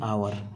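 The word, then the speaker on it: hour: after ये कौन बस एन आवर Etah N H remain silent तो ओ वावेलटा ना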